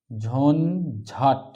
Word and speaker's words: ঝঞ্ঝাট: এই যে ইওর পরে যদি চ বা ছ বা বর্গীয় জ বা ঝ থাকে তাহলে ইয় স্থলে বা ইয় এর জায়গায় ইয় উচ্চারিত হবে না দন্তন্য উচ্চারিত হবে এই চারটি যার উদাহরণ